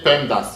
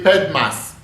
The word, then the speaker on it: PEMDAS: of operations to follow americans say pemdas you can say pemdas some people say ped mass some people say paid sat i will tell you